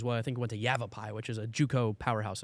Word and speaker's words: Yavapai: as well Yavapai yes are you sure you're pronouncing that right yeah you have a pie you have a pie it's why it really sounds Hebrew okay I don't know